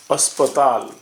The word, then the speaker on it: अस्पताल: লিখব হাসপাতাল, আমরা বাংলায় বলি হাসপাতাল, কিন্তু লেখার সময় অন্যভাবে লিখতে হয় হিন্দিতে। অ দন্তস্বয় পয় তয়াকার ল, উচ্চারণটা अस्पताल।